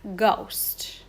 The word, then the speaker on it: ghost: that go sound okay that h is really silent ghost okay next word again